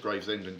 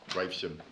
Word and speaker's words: Gravesham: it right this time in rehearsal i said graves england alfred that's quite a long distance i know and everyone said no nick it's gravesham well is that it you've